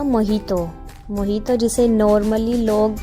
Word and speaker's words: मोहितो: कहां आगे देखो अब हम सबको पीना था मोहितो मोहितो जिसे नॉर्मली लोग प्रोनाउंस करते हैं मोजीतो के नाम से और हम भी वही कर